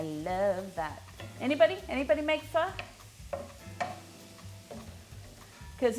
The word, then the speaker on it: pho: vietnamese food in australia it looks like it should be said pho it does look like it should be said faux but it's and that's the way i used to pronounce it way back when but i was corrected multiple times and told it was fu um well it's basically